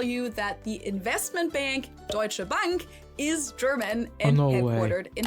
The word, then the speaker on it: Deutsche Bank: But Americans usually call it Deutsch Bank or Deutsche Bank or something like that. In German it would be Deutsche Bank and it literally just translates to German bank.